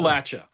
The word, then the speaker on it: Appalachia: How do you pronounce it appropriately? Appalachia.